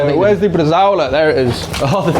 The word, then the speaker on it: bresaola: And uh when you say it, you've got to say it like Jeremy Clarkson. Bresaola. No, you know he always says yes. All right, yeah. And he goes really deep with it.